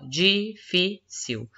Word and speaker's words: difícil: exemplo separar em sílaba difícil depois que eu separei em sílaba eu achei a sílaba tônica você já sílaba mais forte esse caso é o fi se é sílaba tônica